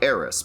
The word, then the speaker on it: Aerith: Most people are just going to say Aerith. Some people might even say Eris because it was spelled that way in the original game.